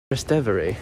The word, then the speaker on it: Trastevere: But yeah, the streets here, we're in Trastevere, Rome? Trastevere, that's what you say. That's how you say it, Trastevere, Rome.